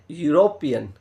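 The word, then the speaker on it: European: का प्रयोग होगा देखो दिखने में क्या वोवेल्स दिख रहा है इ दिख गया लेकिन अब आप जब इसका उच्चारण करते हैं तो इसी को अपन जो पढ़ेंगे उसको कहेंगे यूरोपियन तो जब कैसे से कबूतर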